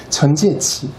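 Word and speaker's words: 陳介祺: 천지의치. 우리 발음은 진계기라고 합니다.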